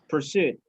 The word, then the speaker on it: pursuit: for like this okay stress on the second syllable pursuit so the book deals